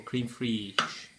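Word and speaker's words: crème fraîche: got some 50% fat-free creme fraiche, or creme fraiche, as I believe the correct pronunciation is, according to Stan's dad in South Park.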